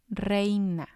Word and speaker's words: reina: have distressed for example we have reina reina it means queen but the stress is going to be on the e because that's the strong vowel re this is technically